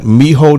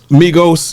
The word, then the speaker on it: Migos: Listen, I went and got Miho them. How you say it? Yeah. Migos, yes.